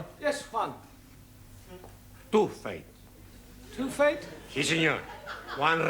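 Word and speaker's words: fête: the rule for example f e t e is also pronounced faith our feet I told you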